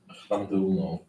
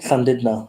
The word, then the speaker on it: Llandudno: Llandulo. Is that how you say it? 4, 8, 11, 12. Llandulo? Llandudno.